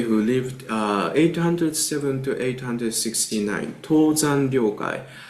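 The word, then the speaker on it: Tōzan Ryōkai: Tōzan Ryokai is Japanese pronunciation.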